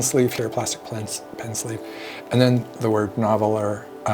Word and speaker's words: Nahvalur: Little pen sleeve here, plastic pen sleeve, and then the word Nahvalur, which is not Nahvalur. It's actually pronounced Narwhal internally at the company.